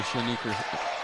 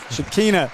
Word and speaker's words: Shakina: You know, it's not, I mean, you've seen progress in the first year under Shanika. I said her name wrong. Shakina Strickland. Coach Strickland.